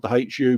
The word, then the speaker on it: The Hu: for a group called the hu pronounced with an h yeah oh that's roger